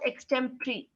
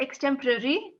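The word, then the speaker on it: extempore: temporary extent no not extemporary extemptry x temporary exactly because it's p-o-r-e right in the end so x-10 and p-1 is not it's not poor it's pre like three so these are your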